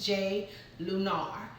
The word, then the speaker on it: Jai Lunar: In case you guys are wondering how to pronounce that, it's Jai Lunar.